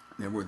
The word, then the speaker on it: Knebworth: Knebworth is, I don't know what it is. I don't know why the K is silent.